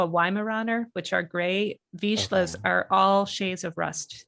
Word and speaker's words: Vizsla: And did I pronounce it Hi, right? Lance. Vizsla.